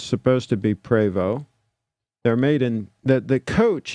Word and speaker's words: Prevost: Some people pronounce it Prevost, but it's supposed to be Prevost.